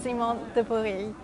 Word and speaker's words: Simon de Pury: to have as our very elegant guest Mr zimon thei welcome so much here did I pronounce your name correctly yes you pronounced it